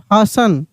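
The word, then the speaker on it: hasten: एन सफन एफ ए एस टी ई एन हसन सी ए एस टी एल ई बताइए आप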